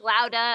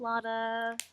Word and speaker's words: Lauda: A There's lot of people were like Lauda, and I'm like, no, it's Lauda.